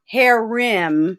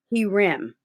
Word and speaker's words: herem: learn something more now this is not hair rem as in women this is he rem okay and if i